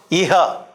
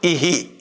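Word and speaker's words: इः: When the 2 letters joins with e, you should not pronounce iha. You should not pronounce iha. You have to pronounce ihi.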